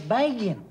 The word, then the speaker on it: Begin: No, it's Begin. You mean they had another election already? Now, the prime minister's name is Begin. Yeah, but it's spelled B-E-G-I-N. But it's pronounced Begin.